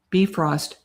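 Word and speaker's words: Bifröst: Pronounce. Okay. Bifrost.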